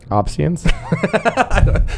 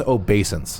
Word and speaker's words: obeisance: Opsians? Can't be right. I believe it's obeisance. Like based on the word obey.